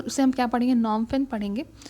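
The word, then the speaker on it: Phnom Penh: Cambodia का है नॉमफिन। तो यहां पी एच एंड यहां पे साइलेंट है। तो उसे हम क्या पढ़ेंगे? नॉमफिन पढ़ेंगे।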